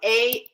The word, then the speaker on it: asafoetida: In English, it's spelled Asafoetida.